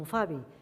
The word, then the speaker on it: alfàbia: És el cas de la L, que davant F, Z, B i V passa a pronunciar-se U. Així d'una alfàbia en deim ufabi, d'una alzina, usina, d'una albergínia, ubergini i de salvatge, suvatge.